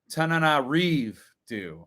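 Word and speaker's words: Tananarive Due: Tananarive Dew. Tananarive. Oh, Tananarive Dew.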